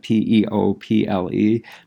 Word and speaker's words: people: their peculiar way, and we have almost no way of explaining to kids why P-E-O-P-L-E says people, because people are like, well, what is the O for?